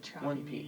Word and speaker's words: Chopy: name is choppy media how do you spell it c-h-o-p-y so there's no extra p yes sir no if you had the two-piece then it would be choppy yeah but we just call it choppy yeah oh well so